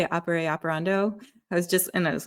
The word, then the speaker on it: ex opere operato: Opere operando? I was like, you got it right. Okay. Ex opere operato.